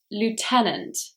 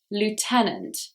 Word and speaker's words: lieutenant: Number 55, lieutenant. Lieutenant. This word has really crazy spelling. Just listen to how I pronounce it and ignore the letters.